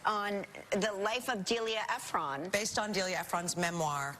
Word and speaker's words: Ephron: It's Delia Ephron. I've said Nora Ephron I know. And that's okay. to her face. You know, we all have. We all have. But it's Ephron. Anyway. Ephron. It's spelled Ephron, so you're not. Yeah. Don't beat yourself up.